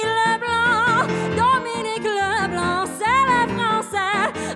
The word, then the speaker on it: LeBlanc: It's Dominique LeBlanc, not Dominique LeBlanc, because Dominique LeBlanc is English, not French. It's Le instead of Lay, Blanc instead of Lay.